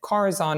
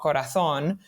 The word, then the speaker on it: Corazon: but I I did deliberately call it Corazon and not corathon uh it doesn't have